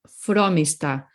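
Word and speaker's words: Frómista: fromista see fromista fromista if you see an accent mark the emphasis must go there that's all the accent marks do in Spanish they don't change the way you pronounce the vowel or anything it is telling you where you need to put the emphasis so if it's on that o the emphasis goes on the o so fromista fromista no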